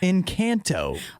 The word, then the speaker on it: Encanto: Why do I have to say it like that? What do you mean? That's how it's pronounced. It's the name of the movie. Encanto. You can also still say it that way. That's the very, I guess I'm saying it with an American accent.